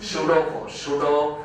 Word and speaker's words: pseudo: Or the most famous name is pseudo force. Pseudo force is imaginary, unreal, fictitious force. The spelling is P-S-E-U-D-O. Pseudo force. P is silent, okay? So don't pronounce it.